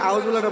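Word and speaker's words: أعوذ بالله: করতে পারেন আউজুবিল্লাহরে শুইনা আউজুবিল্লাহরে বলেন একজন আউজুবিল্লাহ জাল পেশ লৌ চিকন হবে জালটা কি হরফ চিকন পাতলা না চিকন হবে আবার আউজুবিল্লাহি মিনাশ শাইতানির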